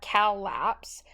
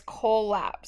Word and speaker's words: collapse: little bit and look it's not collapse I showed you wrong when we were doing collapse let me show you that again it's coal not calps it's coal lapse so when you spell